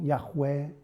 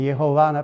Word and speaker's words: Yahweh: Mais on prononce normalement Yahweh, mais Yehovah, par exemple, on ne sait pas, en vrai dire.